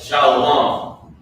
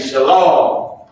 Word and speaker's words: shalom: That is why you have shalom, as people say.